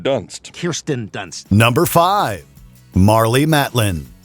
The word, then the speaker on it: Kirsten: He was in Spider-Man with Kristen Dunst. Kirsten Dunst.